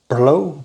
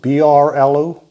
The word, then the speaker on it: Brlo: And I will endeavor to pronounce that name, Brlo, B-R-L-O, Brlo, 7%.